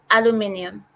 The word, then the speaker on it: aluminium: Aluminium. Aluminium. That's English. That's the British way of saying it.